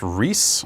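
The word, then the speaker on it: Rhys: Is that how you pronounce R-H-Y-S? I believe it's Reese.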